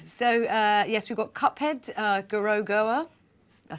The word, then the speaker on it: Gorogoa: So yes, we've got Cuphead, Gorogoa.